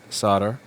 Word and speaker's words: solder: So hopefully the leaded solder, if you're from one of those wacky places that pronounces the L in it, is going to help